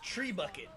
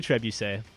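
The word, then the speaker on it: trebuchet: How you pronounce that as trebuche? Yeah, it's trebuche. Trebuche was treebucket. Tree bucket. It's definitely trebuche.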